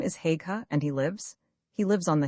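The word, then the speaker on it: Haigha: His name is Haga. He pronounced it so as to rhyme with mare.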